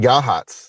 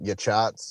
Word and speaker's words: Yachats: town a town called yahats if you spell it out it looks like yachats or jackets or something but yahats just a lovely little